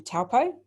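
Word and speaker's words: Taupō: in the ruapehu district then we have taupo which is or taupo pronunciation's okay here which is the largest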